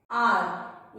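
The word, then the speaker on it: our: राउट यानी कि भगदड़, आर यहाँ पे जो वाह है आपका वो साइलेंट है, आर मतलब हमारा, आवर घंटा, श्रावर यानी कि खट्टा।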